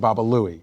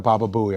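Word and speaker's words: Baba Looey: going to get a baba Buie I was pronouncing it incorrectly and they were like what are you going to get I'm like I'm going to get a baba buoy so you know most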